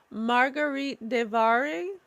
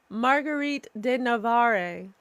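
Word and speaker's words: Marguerite de Navarre: Um, Margarite Devare. No, I don't. Oh, I said it wrong. Margarite de Navare.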